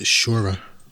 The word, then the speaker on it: Sciorra: First, you pronounce it in Italian, it's Shura. Shura, right, okay.